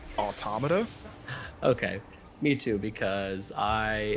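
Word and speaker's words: NieR:Automata: or is it automata or is it automata how do you say it you know after five years I still get self-conscious saying it out loud but I generally go with automata okay me too because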